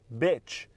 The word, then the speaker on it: bitch: beach on já o cadela tem som de e é como se falar só o b e depois o t bitch bitch love então mais uma vez